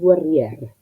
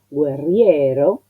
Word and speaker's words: guerrier: Entonces, por la cantidad de los versos, hay palabras que necesitan tener lo que podría decirse una sílaba menos, en vez de decir guerriero, guerriere, decir guerrier, en modo poético.